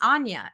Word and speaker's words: Anya: correct me, but he was pronouncing her name Anya. And I was like, "Oh, is it Anya? I always thought it was Anya." And he's like, "It's Anya."